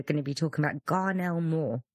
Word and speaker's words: Garnell Moore: to be talking about Garnell more that's how you pronounce it yeah come on gar